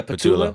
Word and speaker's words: Patullo: Yeah, Patullo.